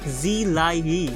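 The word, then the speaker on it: 自來也: The bandit was given the name Zi Lai Yi, which is the Mandarin pronunciation for Jiraiya, and it translates to I was here or I came.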